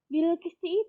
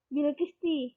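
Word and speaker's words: بِالْقِسْطِ: Nah, Bilqisti itu kita membacanya menggunakan hukum nakhl. Jadi diwakafkan. Jadi gimana? Menjadi Bilqis. Ya. Jadi bukan Bilqisti, tapi Bilqis.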